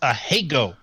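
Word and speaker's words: ahegao: silly face yeah well hey go is pronounced a hey go I hear you so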